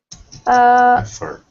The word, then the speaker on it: effort: Effort. Yeah, so efforts there it is. Efforts has the emphasis on the first syllable, okay?